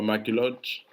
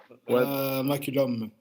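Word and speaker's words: McCollum: Bon, pour mieux prononcer, pour prononcer le vrai nom, c'est quoi, McCulloch? McCullum.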